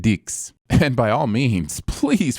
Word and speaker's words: dix: In French, the number 10 is pronounced dix.